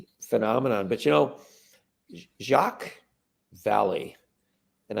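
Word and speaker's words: Vallée: but you know Jacques Valley and I think maybe a Frenchman would pronounce his name valet as far as I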